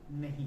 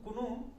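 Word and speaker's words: know: जैसे नो, के एन ओ डब्ल्यू, इसको नो पढ़ेंगे है ना, इसको कुनो नहीं पढ़ेंगे, कि कुनो पढ़ेंगे तो गलत हो जाए।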